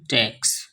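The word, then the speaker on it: talks: away by her sweet टक्स टक टॉक्स यहां पर एल साइलेंट होता है एक साइलेंट वर्ड्स की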